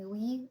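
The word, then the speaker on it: nuit: Jee is uh j o u r and mui is n u i t. In French we do not pronounce t's.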